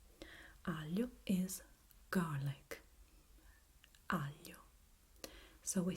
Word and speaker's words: aglio: Now, as a word, we have aglio. Aglio is garlic.